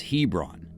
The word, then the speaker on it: Hebron: the Eastern end of Lake heon pronounced locally as Hebron and even offers a